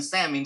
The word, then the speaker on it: salmon: If you pronounce the L in salmon, You're gonna get blocked.